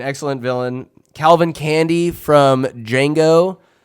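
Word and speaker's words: Django: villain Calvin candy from D Jango the D is silent uh straight straight up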